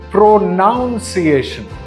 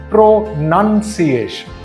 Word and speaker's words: pronunciation: a lot of people end up pronouncing this word pronunciation however the correct pronunciation is pronunciation now we'll talk about words that are often